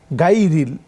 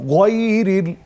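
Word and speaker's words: غَيْرِ: এই জন্য যখন আপনি লিখবেন গাইরিল, বাংলা যেটা লেখা থাকে উচ্চারণটা হবে গয়রিল।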